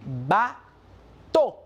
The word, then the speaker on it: bateau: La E, la A y la U se pronuncia como una O en francés. Por lo tanto, vamos a decir bateau.